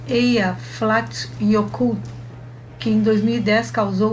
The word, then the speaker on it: Eyjafjallajökull: Um dos mais famosos é o vulcão Eyjafjallajökull, pronuncia-se Eyjafjallajökull, que em 2010 causou o fechamento de diversos aeroportos na Europa por causa das cinzas injetadas na atmosfera.